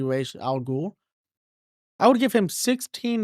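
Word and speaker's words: Ra's al Ghul: Al which I think some people call him was Al but I'm pretty sure it's supposed to be pronounced R let me know if I'm wrong in the comments but I'm pretty sure it's supposed to be R Al G I would give him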